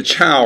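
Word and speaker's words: 周: And then the Chow, or sometimes pronounced Zhao, come in and overthrow them.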